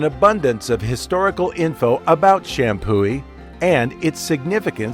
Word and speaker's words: Champoeg: It looks like it should be pronounced Champoeg, right? Why isn't it Champoeg? Is right. The G is silent, and the accepted pronunciation is Champoeg.